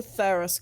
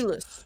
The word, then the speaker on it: Thalus: If Taskmaster Theros comes back, Thalus. It's pronounced Thalus, sorry. Thalus. Thalus. It's in there now. It's good. It's in there Yeah. now. It ain't spelled that way.